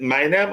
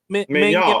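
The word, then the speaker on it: Maignan: Is it Magnam? How do you pronounce his name? Mignon.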